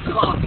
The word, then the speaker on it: conch: Conch. It's pronounced like a conch on the head.